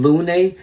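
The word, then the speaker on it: lune: And um yes, the reason why I came up with that name Lun, it's actually pronounced Lon in French, but Lun is um it means moon.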